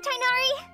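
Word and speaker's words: Tighnari: Okay, Master Tainari. Tainari? Oh, is that how you pronounce his name?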